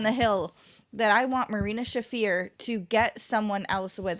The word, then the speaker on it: Marina Shafir: And I'm going to die on the hill that I want Marina Shafir to get someone else with her. No. Did I say her name right for the first time? You did.